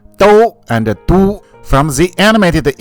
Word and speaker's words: 都: When it is used as an adverb, this character is pronounced as do, which means both, all, even, or already.